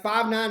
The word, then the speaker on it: Five9: Five9 was founded in 2001, and as you can see on their website, Five9 is actually pronounced and spelled F-I-V-E for the number 5 and then the number 9.